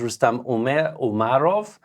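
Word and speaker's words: Rustem Umerov: nominated a new defense minister and this is rustam umarov I was corrected Afghani already corrected my pronunciation uh he is of Crimean Tatar descent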